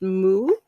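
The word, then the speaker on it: 木: you know them so there's tree which is pronounced mu rest which is pronounced sioux forest which is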